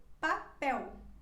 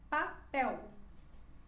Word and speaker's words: papel: ao final da palavra ela se pronuncia como se ela fosse uma letra u por exemplo papel papel e depois seguimos com